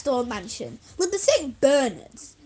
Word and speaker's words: St. Bernard: Bernards, pronounced Bernard, emphasis on Bernard.